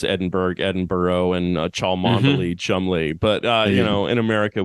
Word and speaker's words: Cholmondeley: An Englishman would have to defend why you pronounce Edinburgh, and Cholmondeley, Chumley.